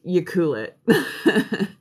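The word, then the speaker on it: Ucluelet: cool it if you were wondering how to pronounce the one that's like right beside it it's you cool it um but yeah up in tofino my buddy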